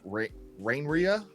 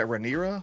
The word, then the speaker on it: Rhaenyra: point that Queen, I'm going to pronounce her name wrong, Queen Rhaenrya? Rhaenyra? Yeah, Rhaenyra.